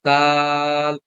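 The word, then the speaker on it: د: কি আছে এই যে এটাকে কিভাবে পড়বো দাল দাল দাল লম্বা করে পড়তে হবে আচ্ছা আচ্ছা জুমে হচ্ছে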